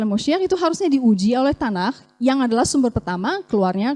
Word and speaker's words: Tanakh: Cuma te-en-kah, tapi dibacanya tanah atau tenah kalau orang asing.